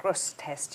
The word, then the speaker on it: Grosseteste: She's lectured in several universities, and she's an associate professor of intelligence history at Bishop Grosseteste University, which I may or may not have pronounced right.